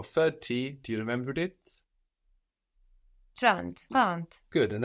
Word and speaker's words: trente: 30. Good, and that's spelled Trente. So the N doesn't just disappear, it gets swallowed into the nose a bit, and that affects the vowel before.